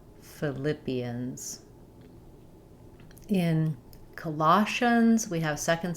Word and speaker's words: Philippians: In Philippians, we have second syllable stress. Again, ph for the f sound. Philippians. Philippians.